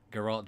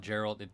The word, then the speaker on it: Geralt: out it pronounced his name Geralt Gerald it's it's polish its polish and fantasy so that makes it especially unpronounceable I mean to be